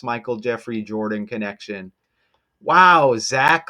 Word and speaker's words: Zach: And Zach rhymes with back. Back to the future. Man, this stuff is amazing with that Michael J. Fox, Michael Jeffrey Jordan connection. Wow. Zach like back and I